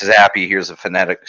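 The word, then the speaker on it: Zappe: have replaced him here Zappa yeah yeah zappy is how they're pronouncing it now it was zap at first now it's Zab B that was something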